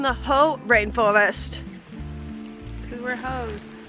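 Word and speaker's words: Hoh: Because we're hoes. I think that's how it's pronounced. H-O-H. Sounds like ho.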